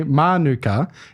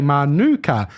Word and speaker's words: Manuka: Most Canberrans say Manuka, emphasizing Canberrans, emphasizing the first syllable of the word, but others say Manuka, mirroring the pronunciation of the Manuka honey. There's a whole article on the ABC website here.